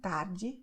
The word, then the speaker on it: tarde: And one very important phenomenon is the fact that the letter E at the end of the word will be pronounced as I, just like in tarde, noite, okay?